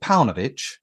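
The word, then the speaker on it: Paunović: So will this how do you pronounce his name? Is it Paunovic?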